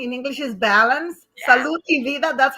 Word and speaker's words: Salud y Vida: Salud y Vida, that's how they say it.